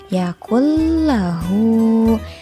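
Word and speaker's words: لم يكن له: Walam yakul lahu kufuwan ahad. Nah, yang harus kita perhatikan di ayat keempat ini, yaitu cara menyebutkan yakul lahu. Nah, jadi dari huruf kafnya ini langsung ditekan ke huruf lam.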